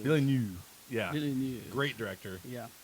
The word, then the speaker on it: Villeneuve: Villeneuve. Villeneuve.